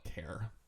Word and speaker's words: char: it short for and in this case that's why I call it care just like I call int integer rather than like ain't or something like that it's integer so that's why I call this care anyway so a care